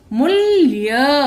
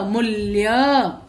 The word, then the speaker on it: मूल्य: म को बड़ा ऊ मू, आधा ल, मूल्य, मूल्य।